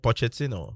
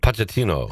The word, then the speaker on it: Pochettino: Mauricio Pochettino. Pochettino.